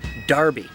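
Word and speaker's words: Enroughty: Probably the most famous example of a really weirdly pronounced name is how the name E-N-R-O-U-G-H-T-Y in Rufty is actually pronounced Darby.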